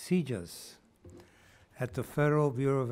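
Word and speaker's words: CJIS: justice information services or CJ is pronounced seizures at the Federal Bureau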